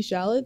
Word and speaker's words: Chalamet: Timothy Chalamet, I believe is how you say his name, and Winona Ryder.